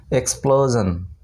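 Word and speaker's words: explosion: তারপর এই এক্স পি এল ও এস আই ও এন, এক্সপ্লোজন, এক্সপ্লোজন, এখানে কিন্তু এস আই ও এন আছে এবং আইয়ের উচ্চারণ কিন্তু এখানে হচ্ছে না, জান হচ্ছে উচ্চারণ, ঠিক আছে।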